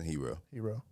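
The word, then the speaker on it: Herro: Hero.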